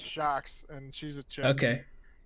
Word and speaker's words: Sjokz: Kelsey with the first point, who voted for, I can't pronounce his name, SJOKZ. That's Shocks, and she's a chick.